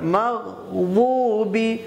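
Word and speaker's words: مغضوبِ: গায়রিল মাগদুবি আলাইহিম মাগ, গায়নের উচ্চারণ মাগদুবি, দতটাকে একটু হালকা করে পাতলা করে মাগদুবি আলাইহিম, আলাইহিম আইন আছে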